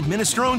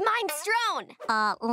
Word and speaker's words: minestrone: I get his minestrone. Lenny, it's pronounced minestrone. I call it minestrone because it's mine.